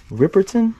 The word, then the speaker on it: Riperton: We got Minnie Riperton.